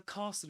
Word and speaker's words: castle: Did you know that the S is silent in this word?